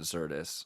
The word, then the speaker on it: Xirtus: to pronounce it, and most of my favorite people do pronounce it Xirtus. I'll just be honest with you. But you know what? I like the American pronunciation as well.